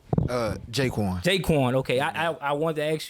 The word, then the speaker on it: Jaquan: Jaquan.